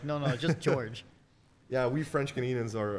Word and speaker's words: Georges: one thing it's George I know there's an s in my name but it's George not georgees the S is silent French people are weird